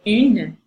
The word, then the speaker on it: un: I put that little n in parentheses to mark the fact that it's a little bit nasal, and again, unpronounced, the n.